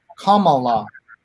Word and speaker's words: Kamala: of Reuters pointed out, it should be Kamala, as in the punctuation mark. Deepa, any insights into this? I think she has weighed in on this before, but if she calls herself Kamala, we should respect what